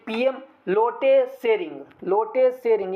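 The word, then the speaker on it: Lotay Tshering: भूटान का कैपिटल थिम्पू, भूटान के करेंसी नगल्ट्रम, भूटान के पीएम लोटे सेरिंग, लोटे सेरिंग। यहाँ पे टी साइलेंट है friends, लोटे सेरिंग, पीएम of Bhutan लोटे सेरिंग।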